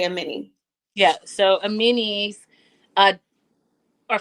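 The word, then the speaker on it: Amani: I've been saying Ammani. Amen. Well, it's spelled A M A N I. So I think that we made a reasonable mistake. But she did correct Shakina and say Amini.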